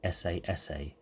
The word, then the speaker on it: esseesse: So you've looked through the classified ads at AGPs and noticed a strange word, esseesse, pronounced esseesse, which means SS in Italian, or short for supersport.